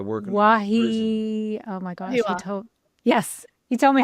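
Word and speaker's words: Wahiawā: Wahiwa.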